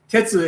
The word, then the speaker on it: Tetsu: pronounced different ways yeah tetsu is is the way to pronounce it for philosophy but you can also